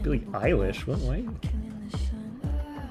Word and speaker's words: Eilish: I was like, Billie Eilish? What? Why? Why are you pronouncing an E like an I?